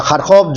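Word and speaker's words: Харків: या खारकोव जो है, या खारकीव उसको कह लें अगर आप रशियन यूक्रेनियन स्पेलिंग बोलना चाहते हैं, तो खारकीव के बड़े हिस्से पे रशिया का कब्जा है।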